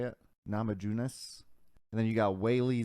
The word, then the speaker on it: Namajunas: you you know america versus china thug rose namajunas i think that's how you say it namajunas and then you got whaley zhang and then